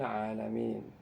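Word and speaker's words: العالمين: Pada kata alamin itu tidak ditambah alif, tapi dibacanya panjang ya. Tapi kalau dalam penulisan surat menyurat gitu ya, atau penulisan yang sifatnya formal, official gitu ya, dalam bahasa Arab itu dipakai alif. Ya, tapi kalau dalam penulisan Quran tidak pakai alif, tapi dibacanya 2 ketukan.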